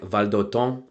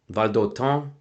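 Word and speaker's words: Valdôtain: So first of all, it's actually pronounced something like Valdoton. Valdoton.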